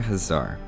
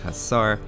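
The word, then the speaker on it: Huszár: unique unit the magar hazar which is not this hazar which we'll pronounce as hassar to keep them straight an interesting fact about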